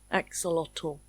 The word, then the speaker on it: axolotl: My favorite part is the ending. Lottle. Axelottle.